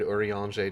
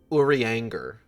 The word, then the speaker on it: Urianger: Even when he's frustrated, Urianger doesn't quite become Uri angry.